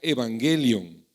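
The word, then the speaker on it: εὐαγγέλιον: conmigo evangelio ya y evangelio viene de una palabra griega que se pronuncia evangelion o evangeli no el anime japonés No evangelium Qué significa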